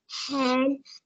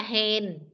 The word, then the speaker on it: and: And N huyền N chứ không phải là hèn.